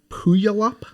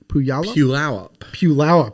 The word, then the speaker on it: Puyallup: Are you familiar with the area Puyallup? Puyallup.